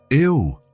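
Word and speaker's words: eau: And in French, eo. Elena said, "It looks strange, doesn't it? It's spelled E A U, but pronounced O."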